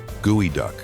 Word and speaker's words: geoduck: This is the geoduck, pronounced gooey duck.